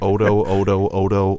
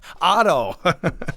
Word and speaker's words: Otto: You're like Odo, yeah, Otto.